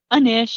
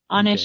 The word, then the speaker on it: Anish: Is it pronounced Anish? Anish is how I pronounce it, Anish. but Anish Okay.